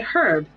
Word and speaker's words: herb: say aluminium I mean I say herb because there's a H in it the H is silent just like while I